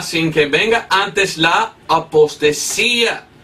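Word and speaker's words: ἀποστασία: Pero es interesante que en el griego, la palabra aquí, apostasía, se escribe apostasía, así. Apostasía. Apostasía pronuncia en griego. Apostasía. Pues es igual en español, apostasía.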